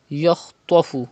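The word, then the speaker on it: يخطف: Yakhtafu, kha and ta are also mustaliya letters, you have to pronounce with thicker voice.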